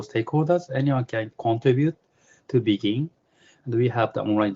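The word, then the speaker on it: BGIN: blockchain governance initiative Network bgi we pronounce it begin this is a open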